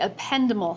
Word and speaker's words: ependymal: And our last guy of the central nervous system is called the ependymal cell. Ependymal is another way I've heard that pronounced. Pronounce it either way.